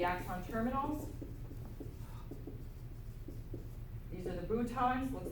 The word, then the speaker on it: boutons: These are the boutons, looks like buttons, spelled like buttons, but we say boutons, little swellings at the end.